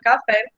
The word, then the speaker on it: café: Aí percebam que na palavra café, a gente sabe que o nome fé, a sílaba fé, é a sílaba mais forte.